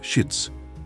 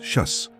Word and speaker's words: Syits: Dalam bahasa Arab dan Ibrani, nama Syits diucapkan sebagai Syits, sedangkan dalam bahasa Suryani disebut Syas.